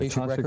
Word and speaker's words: Akashic: Could you tell me, first of all, what are Akashic, and am I pronouncing that correctly? Right, Akashic Records.